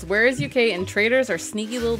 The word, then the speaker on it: Warezuk: I think you're pronouncing it wrong. What? Okay, be careful. It's Warezuk, and traitors are sneaky little bitches.